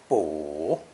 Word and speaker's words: 卜: depicting the process of consulting an article is pronounced third tone boo poor it's generally used in conjunction with our